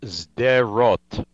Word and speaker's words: Sderot: hamas killed a student at sapler college in sidrott am i pronouncing it right this time it's pronounced zeroth um listen in addition to the rocket that